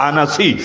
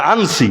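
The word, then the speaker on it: العنسي: চেনে আসওয়াদ আনাসি আসওয়াদ আনাসি অনেকে বলে আনছি মূল উচ্চারণ আনাসি এই দুইটা ভন্ড নবীর মধ্যে আসওয়াদ আনাসীকে আল্লাহর নবী নিজের জীবদ্দশায় হত্যা করিয়েছেন।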